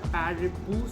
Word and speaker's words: parippu: সো এটাকে ওরা pronounce করে হচ্ছে এটা প্যারেপু, সো ওরমভাবেই আমি প্রোনাউন্স করলাম।